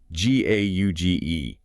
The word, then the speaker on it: gauge: It sounds like gauge, like a measuring device itself is sometimes called a gauge.